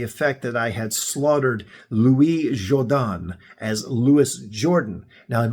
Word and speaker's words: Louis Jourdan: bring up his name, it still tells you the pronunciation is Louis Jordan. So, Louis Jourdan. I hope I got that right.